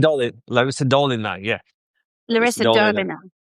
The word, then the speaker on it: Larissa Dolina: Dolina, Larissa Dolina, yeah, Larissa Larissa Dolina.